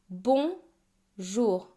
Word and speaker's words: bonjour: Bonjour. The O N make one vowel sound and it's a nasal vowel sound. So like O but instead of the air coming out of your mouth, it also comes out of your nose.